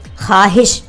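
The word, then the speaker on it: خواہش: ख्वाहिश, हम कहते हैं कि मेरी ये ख्वाहिश है, तो उसमें हम वाव को नहीं पढ़ते हैं, उसको हम ख्वाहिश नहीं पढ़ते हैं, उसको हम पढ़ेंगे ख्वाहिश।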